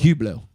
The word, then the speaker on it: Hublot: how's it a he it is h-u-b it's h u b it's just Hublot oh that's how you pronounce it that's what we do in the French I guess I'm getting